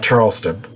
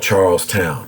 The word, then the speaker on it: Charlestown: established at charles massachusetts now not charleston it's spelled charlestown but one word charlestown massachusetts by 1834 it had